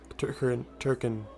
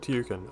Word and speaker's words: Tirkin: That's it, they're called Turkin. You see, I almost said Tirkin.